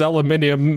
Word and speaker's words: aluminium: No, I mean, it was pronounced aluminium in the thing. They had the I after the N, so... No, I'm giving you credit for saying it correctly.